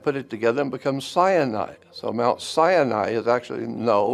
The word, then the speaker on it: Sinai: God met with his people at Mount Sinai. But Mount Sinai is actually Sin Ai.